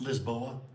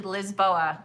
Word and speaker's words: Lisboa: And how did you how did you say they pronounce Lisbon in Portuguese? Lisboa. Lisboa. I thought there was a joke yesterday when they said that. So, it's actually Lizboa.